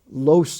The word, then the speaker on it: lost: There is no such word as lost. Lost is another one of those words that don't exist, so you've got to pronounce it lost.